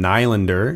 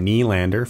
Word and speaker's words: Nylander: You don't call him William Nylander. You call him William Nylander.